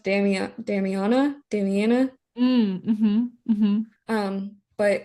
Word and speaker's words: Damiana: for that and also um I think it's pronounced Dam Damiana Damiana um but it's a very it's an